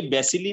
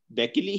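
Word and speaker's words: bacilli: अच्छा डॉक्टर साहब, ये बैसिली नहीं कह रहा, ये बैकिली कह रहा है, असल प्रोनाउंसिएशन क्या है, बैकिली है।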